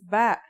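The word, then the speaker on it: باء: Our first letter of this lesson is ba. And yeah, it makes a b sound.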